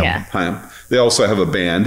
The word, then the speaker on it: Haim: Haim. Yeah. Haim.